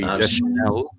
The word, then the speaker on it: Deschanel: Zoe Deschanel. That's it. Deschanel. Is that it? Just Deschanel? Yeah. It's spelt with 2 O's, but yeah, so it's Zoe.